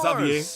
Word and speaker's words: Xavier: Xavier. Don't mention it. Oh yeah, because he comes from Fontaine, and Fontaine would have that pronunciation. Okay, yep, Xavier makes sense.